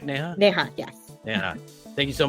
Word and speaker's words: Neha: All right, Neha, am I saying it right? Neha, yes.